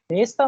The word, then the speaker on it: места: इसका जो प्लूरल होता है उसकी प्रोनाउंसिएशन होती है निस्ता, निस्ता, Don't ठीक do है, your work, इसमें my जो लिखा है friend.